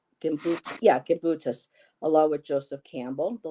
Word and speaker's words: Gimbutas: um she's on the list as well um marija jimas um the language of the Goddess I'm probably not pronouncing her name right marija gimbutas gim yeah gimbutas Allah with Joseph Campbell the language of the